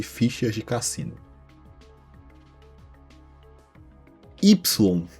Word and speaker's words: Y: Sim, existe uma vila na França que seu nome é formado apenas pela letra Y, ou Y, como a letra é pronunciada em francês.